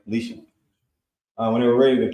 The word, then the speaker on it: Elisha: Because the leprosy was removed from him when he came to him and did the things that Elisha had commanded him to do.